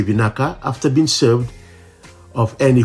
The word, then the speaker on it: vinaka: Fijians are very friendly and helpful, so remember to say vinaka after being served of any food, drinks, or if someone offers you help. Sometimes it is shortened to what sounds like naka.